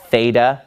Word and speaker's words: Theta: remember this from math in math you called this theta using an American pronunciation but this letter in Greek is the letter theta and it makes a sound now the difference between this